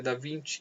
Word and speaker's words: da Vinci: vinte ou da Vinci se escreve da Vinci Mas é da 20 que se pronuncia é considerado um dos